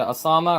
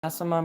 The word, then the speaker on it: Asama: Is it Osama or Asama? I don't know. It's Asama Maru.